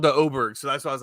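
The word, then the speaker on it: Åberg: I started but the announc it's called the oberg so that's why I was like okay it's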